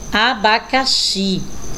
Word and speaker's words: abacaxi: um som de z próxima imagem é abacaxi olha aí também a x com outro som não é exame são dizer e abacaxi som de ch próximo a imagem é